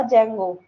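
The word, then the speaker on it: Django: मतलब सबसे पहले था जगो ठीक है डी जे एन जी ओ जेंगो ठीक है मतलब डी भी साइलेंट होता है जेंगो फिर फ्लास्कस्ट एबीआई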